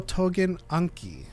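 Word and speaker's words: Tougen Anki: Spell that again. Tougen space Anki. Oh, Togen Anki.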